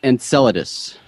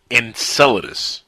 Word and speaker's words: Enceladus: say it so don't feel bad well it's pronounced Enceladus Enceladus yeah I'm salad ace so that to buscher